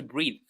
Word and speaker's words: breathe: It's a verb to breathe. All right? That's to breathe. And it's written with an e. And it's pronounced with athe.